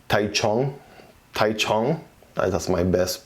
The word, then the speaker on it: Taichung: It does say, I think it's called Taichung. That's my best pronunciation right there.